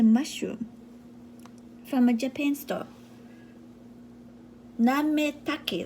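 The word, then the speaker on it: なめたけ: Nametake, like name, take your name, take. Nametake. You know, Japanese letter, they pronounce more, everything pronounced.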